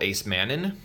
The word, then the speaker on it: acemannan: It's called acemannan. It sounds like it is spelled. It's spelled like it sounds.